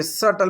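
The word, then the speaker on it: subtle: फिर सटल, सटल का मतलब यहाँ पे देखिए सटल, बी साइलेंट है साथियों, कुशाग्र।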